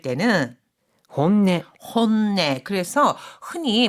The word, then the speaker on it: 本音: この単語の発音は이 단어 발음은 少し難しいですね. 좀 어렵네요. 본심 또는 속마음이라고 할 때는 本音、 혼내.